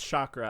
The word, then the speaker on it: chakra: opens the heart chakra chakra it's chakra i mispronounced it last episode opens the heart chakra